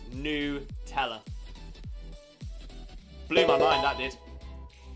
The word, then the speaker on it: Nutella: to nutella is nutella it's not nut ella it's new teller blew my mind that